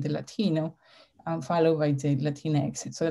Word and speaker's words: Latinx: And she said in this one that if you can say cleanest, you can actually say Latinx.